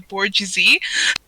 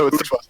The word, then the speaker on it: bourgeoisie: I learned about something called the bourgeoisie. It raises an eyebrow. No, it's the bourgeoisie. They're run by the ghosts. I mispronounced that, didn't I?